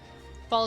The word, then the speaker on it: Baal: It's pronounced Baal, by the way, for the biblical version.